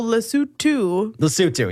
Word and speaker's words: Lesotho: So Lesotho. Yeah, that's how you properly pronounce it.